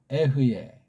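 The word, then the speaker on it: אֶהְיֶה: 이거 발음은 성경 나와 있듯이 에흐예잖아요. 그렇죠? 에흐예. 또 이걸 어떤 사람 또 뭐 이렇게 또 표기하는지 모르지만 없죠.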